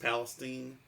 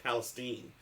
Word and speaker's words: Palestine: They pronounced it East Palestine, not Palestine. I was surprised, but I think actually Palestine is I think it could go either way.